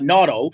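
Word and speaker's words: Nauto: Well, the technology is a product called NATO, N-A-U-T-O. NATO, I guess, is a better pronunciation.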